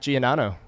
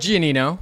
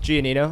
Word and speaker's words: Gianino: sitting here with my new friend Mr Zach gonano did I pronounce that right gianino gianino okay that that sounds Italian are you Italian